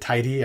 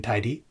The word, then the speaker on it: TyDe: which is a string the name of this workshop i pronounce it tidy i think some people pronounce it tied i'm not sure which is right but i'm gonna do